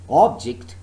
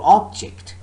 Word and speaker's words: object: the noun record or object so the first syllable is stressed but so far as the verb is concerned remember the second syllable is stressed record object if i say all